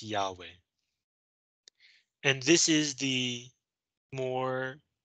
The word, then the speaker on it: Yahweh: notice this second name there are no vowels so how do you say this word nobody really knows but scholars guess that it's probably pronounced yahweh and this is the